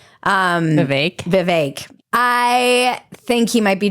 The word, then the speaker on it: Vivek: I always feel like I mispronounce his name because I heard someone say it rhymes with cake. Vivek.